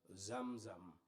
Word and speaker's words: Xam Xam: newspaper that wrote it he wrote like x-a-m-x-a-m and that's pronounced zamzam which we love so we